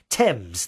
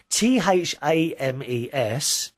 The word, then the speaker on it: Thames: that on another show t-h-a-m-e-s is actually pronounced thames and you you you actually spell it phonetically there t e m zed thames that's how you say